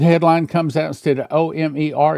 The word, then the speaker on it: Olmert: The headline comes out instead of O-M-E-R, it's O-L-M-E-R-T, but it's pronounced the same as she heard.